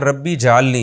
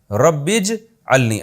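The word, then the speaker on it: رَبِّ اجْعَلْنِي: नमाज कायम करने वाला इसको लोग अक्सर पढ़ते हैं रब्बी जलनी ये गलत है रब्बज अलनी असल में था रब्बी इज अलनी अलिफ साइलेंट हो गया ऐ मेरे रब बना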